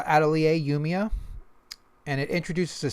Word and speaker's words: Atelier: I thought it was Atelier, but then I found out this is a French word pronounced Atelier. I'm not sure if they pronounce it that way, but that's the correct pronunciation of the word.